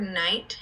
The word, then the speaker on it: Knight: to be a knight that word Knight has a silent K Knight so we have to